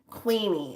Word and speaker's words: Qveen: What's the artist's name? Queenie. It's spelled Qveen, and then Herbie is Herby.